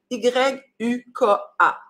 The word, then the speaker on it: Yuka: Ça s'écrit Y-U-K-A.